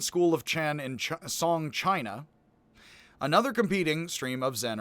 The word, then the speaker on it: qi: Chi, like energy, used to be spelled CH''I. They got rid of the apostrophe. Unfortunately, they also got rid of the CH, and it's QI as chi.